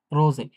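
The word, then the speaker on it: Rose: আর বেশিরভাগ ক্ষেত্রে, হ্যাঁ, বেশিরভাগ ক্ষেত্রে এস কিন্তু ইংলিশের এস, ডয়েচের এসটা কিন্তু হচ্ছে যে অনেকটা বাংলায় বর্গীয় জ থাকে না? কিছুটা বর্গীয় জের মতো আরকি উচ্চারণ হয়, হ্যাঁ?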